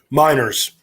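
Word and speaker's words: Meinerz: Miners.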